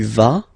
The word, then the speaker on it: vas: Basically you pronounce it like for the tu because you don't pronounce the final S, okay, il va, elle va, okay, je vais, tu vas, il va, elle va.